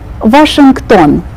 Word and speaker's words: Washington: Shang ban version ten in the middle of this word will pronounce the K sound washing done Washington now let's read all